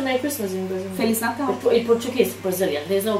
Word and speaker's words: Feliz Natal: Feliz Natal. In Portuguese, Brazilian. There's no Brazilian. No. Yes. Feliz Natal.